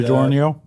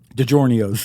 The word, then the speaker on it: DiGiorno: DiGiorno? Which one? DiGiorno's. Yeah, no, DiGiorno is pretty good. DiGiorno's. Well, that the Italians pronounce it DiGiorno's.